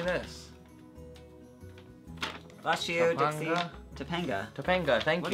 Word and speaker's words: Topanga: Bless you, Topanga?